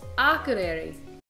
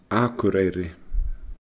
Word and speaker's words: Akureyri: Akureyri. Akureyri. The local people will probably pronounce it a little bit differently.